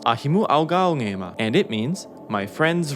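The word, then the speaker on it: Ahimu'augāungēma: It's pronounced Ahimu Augaongema, and it means my friend's roots.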